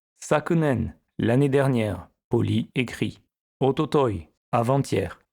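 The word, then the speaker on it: 一昨日: Ototoi, avant-hier. Attention à la prononciation irrégulière.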